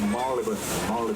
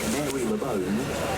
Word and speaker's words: Marylebone: So it looks like Mary LeBone, but it's pronounced Marylebone.